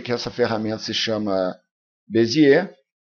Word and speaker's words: Bézier: o Pierre eti bez a pronúncia da palavra é Bezi mesmo tem gente que chama de bezier de bezier também chama de bezer beir e beser também mas a pronúncia correta é beier E se a gente